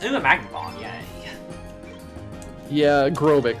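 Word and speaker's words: Grobyc: a magnet yeah yeah aerobic that's how you pronounce it grobik is a super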